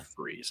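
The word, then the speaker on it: McVries: Because when I write when I read it, I pronounced it differently. It's Mc Ves. Yeah, McVrees.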